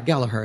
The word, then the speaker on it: Gallagher: Yeah, Gallagher is how they pronounce it.